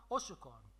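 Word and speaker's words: Hauchecorne: وصل غوديرفيل متر اوشكورن. داكوغ. كتنطقوا هاد السيده بواحد الطريقه بشكل اوشكورن. داكوغ. وهي راه في الحقيقه اوشكورن. داكوغ. وفي الغالب هاد الاو مادام ثقيله بزاف في النطق كنصرطوها كنقولوا اوشكورن.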